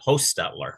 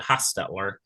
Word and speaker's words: Hochstetler: the bat you know I pronounce it in our family line pronounce it host stutler with a long o but it's spelled four or five different ways some people pronounce it hastler some people pronounce it hastler with a d so it's spelled four